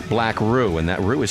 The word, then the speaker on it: BlackRue: talk about it we're hanging with the band black roux uh they've got an ep out that they